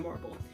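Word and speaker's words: Morrible: sure madame marble well her name rhymes with horrible what did you expect she has a sort of diluted version of umbridge who is working with the wizard essentially that's madame morable and then we have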